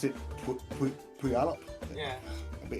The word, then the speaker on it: Puyallup: Oh yeah, honestly, a bit of a great laugh this weekend up in pardon me, you pronounce it Puyallup.